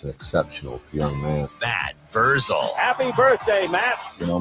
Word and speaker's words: Vrzal: Yeah, Vrzal.